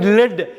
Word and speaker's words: lead: அதேமாரி லெட், LEADயை லெட்டுன்னு படிக்கலாம். EM அது ஒரு உலோகம், ஒரு மெட்டல், லெட். அதை வந்து லீடுன்னு படிக்கக்கூடாது, லெட்டுன்னு தான் படிக்கணும்.